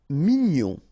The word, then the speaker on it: mignon: Mignon, okay, here in that case, G-N-O-N, gnon, mignon.